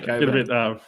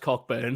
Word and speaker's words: Cockburn: I was about to say Coburn. Get ready. I was going to say because I knew that you wouldn't put it there if it was actually pronounced Cockburn.